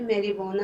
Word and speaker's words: marijuana: मैरिजुआना होता है बेटा हशीश या भंग भी इसको कहते हैं, और ये वर्ड जो है मैरिजुआना है, जे साइलेंट है इसमें.